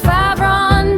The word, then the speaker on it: Favron: Oops, I think it's pronounced Favron.